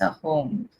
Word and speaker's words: Ahom: so it's actually pronounced a home.